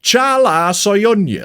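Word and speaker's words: Çağlar Söyüncü: In researching this video, I found out that that is absolutely not how you say his name at all. It's in fact pronounced Chala Soyuncu.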